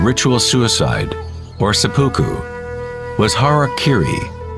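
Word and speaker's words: hara-kiri: suicide or seppuku was Hara Kiri was often mispronounced as Harry Carey it means to impale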